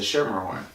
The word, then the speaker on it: Schermerhorn: That was you hit the C hard on that, which most people do until someone that works there corrects you. I practiced before. It's a soft C. It's a Schermerhorn.